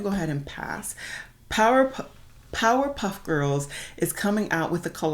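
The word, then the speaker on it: Powerpuff: merch for Powderpuff Girls I never say their name right I always call them Powder Puff Girls saying it correctly sounds weird so I'm gonna keep going with powder puff but no I mean power puff um but yeah I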